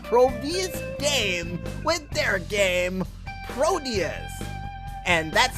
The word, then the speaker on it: Proteus: Twitter page of probe's damn with their game Proteus and that's how you say it because I